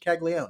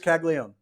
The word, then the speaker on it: Caglione: I think it's just Caglione. I think we mispronounced it our entire draft episode. It's just Caglione.